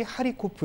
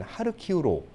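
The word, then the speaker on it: 하르키우: 이후로 j 의 도시 하리 코프 는 하루키 후로 서부의 리 비프는 리뷰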